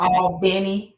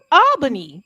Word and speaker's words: Albany: It's a few pockets in Georgia that don't have the other name like Al Benny Georgia. You know, wait a minute. I'm saying that wrong too. Albany. If you said Albany, Georgia.